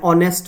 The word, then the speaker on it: honest: So right pronunciation is what? Heir an heir. An honest man, right?